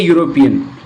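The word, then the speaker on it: European: यहाँ आपको ध्यान रखना यूरोपियन में इसका जो उच्चारण हो रहा है य से हो रहा है और य से उच्चारण होने की वजह से इसके साथ आर्टिकल जो है ए आएगा।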